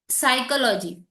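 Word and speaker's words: psychology: किंवा मी बोलायला गेले सायकोलॉजी, सायकोलॉजी स्पेलिंग चालू होते P वर, मग P कुठे गायब झाला.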